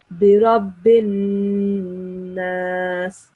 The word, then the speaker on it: الناس: You're supposed to pronounce it like Birabbin Nas. Just stop a little bit, stop for a couple of seconds on the sound of Noon. Birabbin Nas, like this.